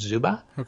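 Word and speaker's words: Czuba: This should be about Democratic President Joe Biden, said the pollster Richard Zuba, C-Z-U-B-A, C is silent, Richard Zuba, said of the governor's race.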